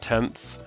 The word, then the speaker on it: tenths: this 7/10 7/10 and this word tenths is important we learnt that we pronounce that tenths anything down below there is usually got a THS on the end not always but quite often and we would also